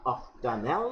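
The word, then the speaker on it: octanal: আর aldehyde মূলকের জন্য এএল আল, 4 hydroxy 3 5 dimethyl অক্ট আন আল বা অক্টানেল বা অক্টানাল, উচ্চারণ আল বা এল যে কোনোটাই করতে পারো, এখানে কোনো অসুবিধা নেই।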